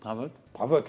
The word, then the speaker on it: Dravotte: Alors ce fameux Daniel Dravotte, le T se prononce, hein.